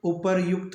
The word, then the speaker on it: उपर्युक्त: होता है ऊपरयुक्त दोस्तों उपरोक्त शब्द गलत है उपर्युक्त शब्द ही शुभ माना जाता है इसी